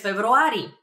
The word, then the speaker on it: февруари: For example, I'm born in February, so I would answer през февруари. През февруари. It's very similar to February. Февруари. Just a little bit of a trick over there in pronunciation, but that means in February.